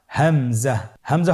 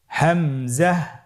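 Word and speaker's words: همزة: পরবর্তী হরফটির নাম হামজা। হামজা হরফটি উচ্চারণের ক্ষেত্রে বারিক করে উচ্চারণ করতে হবে এবং এখানে টেনে পড়া যাবে না। দ্রুত পড়তে হবে। আপনারা আমার সাথে বলুন হামজা হামজাহ হামজা হরফটি উচ্চারণের স্থান হা এর মতই।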